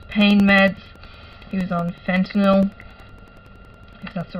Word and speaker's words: fentanyl: was getting reduced pain meds he was on fentanyl that's the right pronunciation and he thought it was getting turns